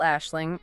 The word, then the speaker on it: Aisling: The official pronunciation is still Aisling, but the author makes it clear this is really no big deal anymore.